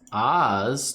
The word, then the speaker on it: Ophz: cursed stone of ph a ph appears in the middle of your name that you cannot remove and it is silent well no it's still oz but it's spelled o-p-h-z and you can't remove